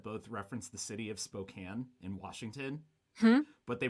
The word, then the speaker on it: Spokane: from spokane was like hey it's actually pronounced spokane stuff but they should